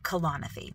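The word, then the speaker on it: Kalanithi: becomes air by Paul kalanathy that's how you pronounce his name colonophy and I don't really have much to say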